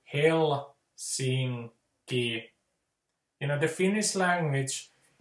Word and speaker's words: Helsinki: Like with Helsinki, the ls at the middle of the word, those repel each other. So it's like they're two negative, you know, poles rejecting each other. So that, you know, the Finnish language, it just doesn't like the ls sound. So that the way to say Helsinki in rhythm is to say Helsinki.